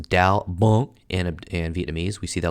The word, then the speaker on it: đau bụng: this is like, abdominal pain," and which is pronounced đau bụng in Vietnamese.